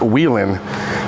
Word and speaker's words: Whalen: Other than mispronouncing the Whalen family name, it's pronounced Whelan.